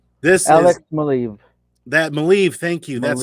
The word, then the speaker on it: Maleev: that Maleev, thank you. That's how it's Maleev.